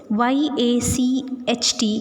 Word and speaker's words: yacht: at the new words y-a-c-h-t is pronounced as yacht which means a large